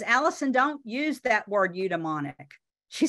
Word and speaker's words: eudaimonic: And the concept, and this is how you say it, eudaimonic, the concept of eudaimonia dates back to the 4th century.